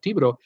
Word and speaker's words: Thibodaux: Brittany Lockwood, another way, if I could give a pronunciation of Thibodeau, is G and H is silent, and the E-A-U-X sounds like a long O.